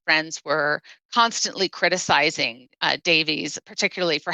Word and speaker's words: Davies: Uh well, we would say it Davies, but I think it's actually pronounced Davis.